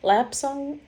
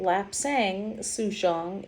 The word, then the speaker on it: Lapsang Souchong: lesser quality tea but it's still my favorite lap song uh lap song see there i go lap sang sushong is a bohee so um uh bohe is